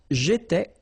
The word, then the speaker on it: étais: Remember, here we've got accent aigu, so it goes like et, all right?